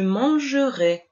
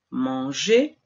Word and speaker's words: manger: Observemos que la R, cuando está al final del verbo, al infinitivo, es muda, manger, y hace que la letra E anterior suena fuerte, manger, pero al encontrarse